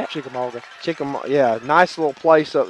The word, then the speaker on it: Chickamauga: Chickamauga.